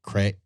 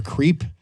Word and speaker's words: crepe: Crepe. Yeah. For our listening audience out there, it's either pronounced crepe or creep.